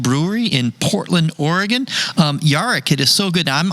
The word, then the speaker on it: Jarek: it right you got it jarek now yaric in my head the way i wrote it